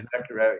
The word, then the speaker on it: Zacharevic: まずこの作品はもう一人、Ernest Zacharevic, is that the way to pronounce it? Yeah, Zacharevic, yeah.